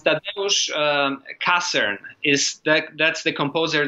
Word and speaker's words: Tadeusz: Oh, Tadeusz. Tadeusz, okay. Tadeusz, yeah, it's actually the same name as Kościuszko, right? So mm-hmm. it's Tadeusz Kassern is that's the composer that you are asking mm-hmm.